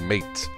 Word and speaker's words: MATE: So if you are new to Linux and wanted to try something new, or for yourself for newbies, check out Ubuntu Mate. It's pronounced Mate.